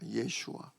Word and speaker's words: 예슈아: 또 예수님의 원래 이스라엘 발음이 예슈아입니다. 예슈아.